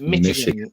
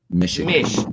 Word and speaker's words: Michigan: It's pronounced Michigan. USA. There you go. So think of it as M-I-S-H, not C-H. Michigan.